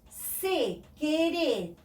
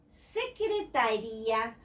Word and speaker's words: secretaria: But for us, secretaria, secretaria, we have to pronounce every letter.